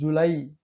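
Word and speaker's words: July: अंतिम में वाई हो, शब्दों का अंतिम वाई है भाई, वाई से पहले एक या दो कंसोनेंट हो, ठीक है। वाई से पहले एक दो कंसोनेंट है का उच्चारण आई होता है, जैसे जुलाई, ट्राई, साई।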